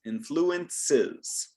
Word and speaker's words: influences: the s sound influence when we're in the third person singular and it ends with an s we have to add that extra syllable influences influences your body language